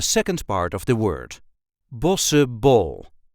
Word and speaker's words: Bossche bol: Bossche Bol. Bossche Bol. Bossche Bol. Bossche Bol. As you can hear, the CH is not pronounced.